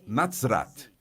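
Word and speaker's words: נצרת: Temos a zade é pronunciada com T, com Z. Z, dizemos em hebreu para Nazaré, Natrat. Não se trata de Nazer, mas Natrat.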